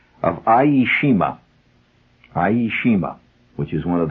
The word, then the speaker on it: Iejima: was summering on the island of e of aishima aishima which is one of the out Islands the Japanese islands that they took just before the surrender iima it's spelled i e iima where the camp recreational director had us all